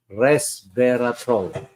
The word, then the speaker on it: Resveratrol: bioactive called Resveratrol Now Pronounce it with me res troll so is blueberries especially